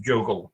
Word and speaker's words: JOGL: And so all of these organizations, there's also a European consortium called Just One Giant Lab, or it's pronounced JOGL sometimes, are, with some minor confusion, dedicated to making Free Libre open source solutions.